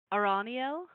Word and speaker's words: Araniel: Arianelli? Araniel, Araniel.